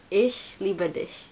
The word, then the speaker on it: Ich liebe dich: Ish Liberdish.